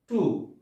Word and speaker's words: two: এই শুড, এখানেও কিন্তু ডাব্লিউ উচ্চারণ হয় নাই। শুড শব্দের অর্থ হলো তরবারি। এরপরে হচ্ছে টু।